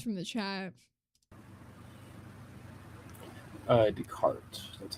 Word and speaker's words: Descartes: Oh, so the S is silent.